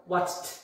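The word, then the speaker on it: watched: তারপরে আসছে ওয়াচড, ওয়াচড, ওয়াচড, ড নয়, ওয়াচড, ট।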